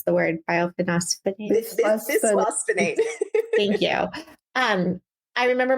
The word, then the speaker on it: bisphosphonate: was on one of these I can't even pronounce the word, bisphosphonates.